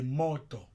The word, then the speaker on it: moto: Alors que le deuxième mot qui s'écrit de la même façon, c'est moto. Moto. Là, tu vois que le premier O est en haut.